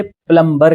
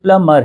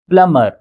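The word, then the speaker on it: plumber: प्लमबर नहीं इसका pronunciation प्लमबर नहीं है। इसे सही तरह पे कहा जाए तो यह प्लंबर है। बी का साउंड यहां पर साइलेंट है। प्लमर प्लमर ना कि प्लमबर।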